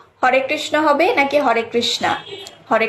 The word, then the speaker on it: হরে কৃষ্ণ: এই প্রশ্নেরই উত্তর জানবো, পাশাপাশি আরও জানবো মন্ত্র অর্থ কি, হরে কৃষ্ণ মহামন্ত্রের অর্থ কি এবং এর সঠিক উচ্চারণ কোনটি, হরে কৃষ্ণ নাকি হরে কৃষ্ণা? হরে কৃষ্ণ।